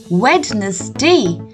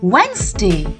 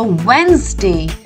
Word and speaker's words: Wednesday: this day of the week i used to pronounce it as wednesday so it was very easy for me to